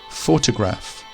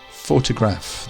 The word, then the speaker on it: photograph: in the middle and finally photograph photograph these stresses at the start whereas photographer the emphasis